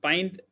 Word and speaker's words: pint: Pint, it is not pint.